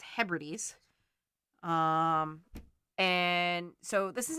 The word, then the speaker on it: Hebrides: the outer hebrides which i learned recently that i've been mispronouncing this whole time um but it's hebrides um and so this